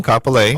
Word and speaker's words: Kapolei: It's in Kapolei.